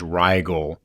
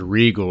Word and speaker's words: Regal: was mispronouncing the name Justin's last name is Riyal oh yeah and you explained it was Regal and and you said